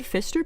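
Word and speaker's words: Pfister: For One what's that oh pH is pronounced as an F no it's PF it's the word Fister but there's a p in front of it Fister rainbow fish who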